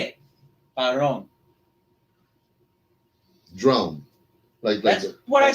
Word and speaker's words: Padrón: Say it, padrón. Drone. That's what I said. I finally asked. Padrón. About an inch and a half. No, think always like drone, and then put padrón.